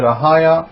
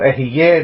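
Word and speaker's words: אהיה: the children of Israel, Ahaya, or Ahiyeh, it depends how the Hebrew is pronounced. By some different people pronounce it with different French accent, or Arabic accent, or whatever accent.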